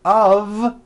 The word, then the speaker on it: of: word Liberty of Liberty you see of is voiced here's another example it's made of glass or it's made of wood it's not a f wood with an unvoiced F it's all voiced and